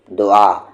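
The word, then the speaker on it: دعا: इसे आप क्या कहेंगे दोआ और एक और स्पेलिंग है दाल वाव अलिफ इसे हम क्या पढ़ते हैं दवा और यह है दुआ ठीक है तो वा नहीं कहना है दुआ कहना है आईन दुआ और इसे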